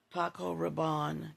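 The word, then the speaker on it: Paco Rabanne: One of my favorite signature frags, Paco Rabon Caliandre. That is how it's pronounced and I love it.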